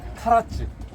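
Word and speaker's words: 唐津: 대표적인 게 어디냐면 카라츠. 당진역 한자를 쓰는데 그 당이면 당나라 당자인데 발음은 가라라고 그래요.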